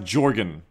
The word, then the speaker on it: Jorgen: No, it's pronounced Jorgen.